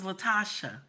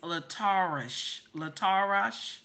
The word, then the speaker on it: Latarsha: Allentown, PA, City Hall employee Latarsha. I thought it was Latarsha, but somebody corrected me and said it's Latarsha Brown planted the noose on her desk.